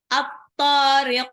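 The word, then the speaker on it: الطارق: Sebetulnya dia bisa dibaca dua harokat, tapi alangkah baiknya biar kita paham nanti ingat cara nulisnya, maka dibacanya panjangan lagi. Wa ma adraka mat-tariq. Ro-nya dua harokat. At-tariq alif lam samsyah.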